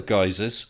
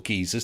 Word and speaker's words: geysers: been quite reliable other geysers or geezers depending how you say it have failed and in